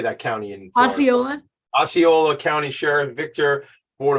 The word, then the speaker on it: Osceola: Osceola.